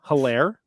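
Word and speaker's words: Helaire: Clyde Edwards Hilaire, H is silent, RB 13.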